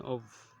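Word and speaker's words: au: Then we have a U which is pronounced as O in French.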